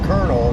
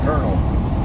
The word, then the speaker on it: colonel: that when we say colonel, it's pronounced like with an R, like colonel, but it's the same spelling, isn't it?